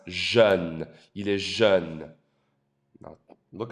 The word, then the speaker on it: jeune: Pronounced jeune.